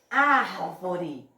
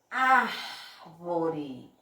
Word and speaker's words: árvore: Por exemplo, árvore, árvore. Olha o que foi que eu botei mais força para falar. Foi o A. Ó aqui, ó. Desse lado aqui que tem mais um espaço. Árvore. Então, ó, árvore, a sílaba tônica aqui é o A.